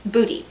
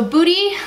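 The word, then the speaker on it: Buti: just can't help it it's booty I think is how you pronounce it that has been in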